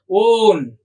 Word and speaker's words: one: ONE, one. That is different. Here we have to pronounce as own.